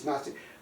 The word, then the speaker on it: Gnostic: it's Gnostic but anyway it's not way ntic but it's notic well these guys they're